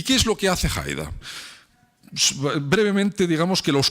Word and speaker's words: Haider: Y se organiza una revuelta en la que un líder joven llamado Haider, un poco pronunciado en alemán, Haider, se hace con el control del partido en el año 1986 hasta 2005.